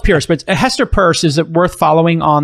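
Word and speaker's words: Hester Peirce: do you pronounce her last name it's not pierce um you can't pronounce the word pierce purse first person no it's spelled pierce but a hester purse is it worth following on the twitter h-e-s-t-e-r-p-e-i-r-c-e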